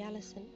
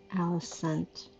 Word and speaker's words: Alicent: what's happened to her I like to believe I'm still the lady Allis but I think I've been saying it wrong alicent why did you what